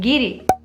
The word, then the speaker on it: guiri: works tells us that for a Basque speaker it is not easy to pronounce a word that begins with CR and that is why cri ended up sounding like giri so yes not having